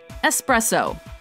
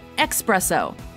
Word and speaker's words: espresso: zoo supposedly number two espresso common mispronunciation expresso correct pronunciation espresso when you're thinking about